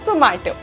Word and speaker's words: Zomato: Zomato, तो they wanted something universal and familiar, and इसी वजह से उन्होंने नाम Zomato रखा, like something which rhymes with tomato but with a zing to it, so Zomato.